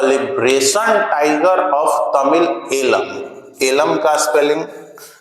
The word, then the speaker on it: Eelam: तो liberation tiger of Tamil alum. Alum का spelling होगा EELAM, एलम, ठीक है ना।